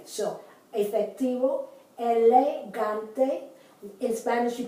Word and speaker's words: efectivo: I pronounce it as if it were a B, the B grande. So, efectivo, elegante.